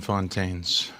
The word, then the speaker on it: Fontaines: Yeah, but we are now joined by and do you pronounce the S on the end of your last name? Yeah, it goes by Fontaines. Fontaines, okay.